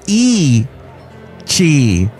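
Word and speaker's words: Yi qi: The dinosaur, named Yai Qi, meaning strange wing in Mandarin, and pronounced E Qi, lived about 160 million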